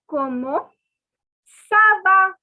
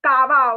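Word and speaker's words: comment ça va: attention it is not kava okay don't say kaaba because when i was in school i used to say kamokawa komo kala it is not kawa it is so this has the sir sound okay okay this is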